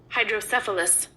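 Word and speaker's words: hydrocephalus: u s and this is how it is pronounced hydris hydris hydris is a noun a condition in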